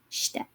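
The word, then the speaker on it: して: This is shite. And I'm not emphasizing the I on that shi hiragana, just shite.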